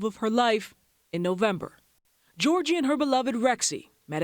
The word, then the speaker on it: Georgie: lost good you're great meet Georgie not Georgia Georgie my last name is